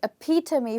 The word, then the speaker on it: epitome: to remember this better you could just remember to me that this word has to me in the end and it's almost pronounced like to me okay so appear to me for you which means